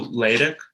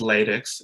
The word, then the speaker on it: LaTeX: be like going through latex so just to say it's not pronounced latex it's latex uh and like this